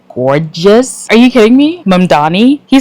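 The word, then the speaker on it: Mamdani: Mannani he said say my name M A M D A N I say my name Donald Trump turn up the volume.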